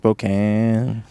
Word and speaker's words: Spokane: but actually pronounced Spokane.